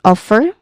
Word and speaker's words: offer: When it comes to pronunciation, we start with offer, which has clear two syllables, right? The stress is on the first syllable, which is off, which has a clear short O vowel sound. Off. Second syllable is still with a short A vowel sound, and it ends with a letter R sound, of course. It sounds like her, but without an H sound at the beginning.